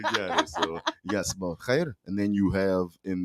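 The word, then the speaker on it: sabah al-khair: They would tell you Sabah Khair. Sabah Khair.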